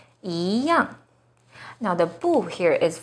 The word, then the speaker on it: 一样: The second E is followed by a fourth tone, yang. So E here should be the second rising tone, 一样.